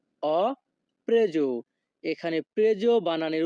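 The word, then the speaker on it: preso: বাক্যের ইতালিয়ান ভাষা হবে অপ্রেজ অপ্রেজ এখানে প্রেজো বানানের উচ্চারণ হবে পি আর ই প্রে এস ও এর উচ্চারণ হবে জো অজো যখনই আমরা ইতালিয়ান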